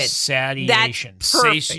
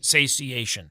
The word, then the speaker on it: satiation: Sadiation. Satiation. That's how you say it.